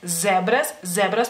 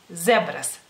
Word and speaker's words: zebras: Por ejemplo, zebras, que es zebra, en español se escribe con Z para empezar, pero sí es, no es zebras, es zebras, porque la S en lituano es S como es en español.